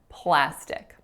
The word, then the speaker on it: plastic: used so in plastic there are only two syllables the first vowel is a tense ass sound so make sure it's not that it's flat and then the second syllable is stick kind of like a stick you might find outside in your yard with a lacks a sound plastic the brain is